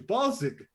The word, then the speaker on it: Balzig: No, I told you, Balzic. Balls sick? You know, no, with a G, but you pronounce it a hard G. Balzic.